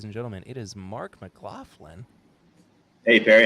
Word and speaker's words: McLaughlin: But from Old Lion Spirits, ladies and gentlemen, it is Mark McLaughlin.